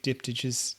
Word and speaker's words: diptych: well and these big diptyches dipped in we're still having trouble saying that word how do you say that word diptics diptych okay so it's a k sound all right okay yeah